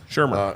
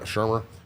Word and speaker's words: Shurmur: I can't pronounce his last name, so I'm not going to try. Shurmur. Shurmur.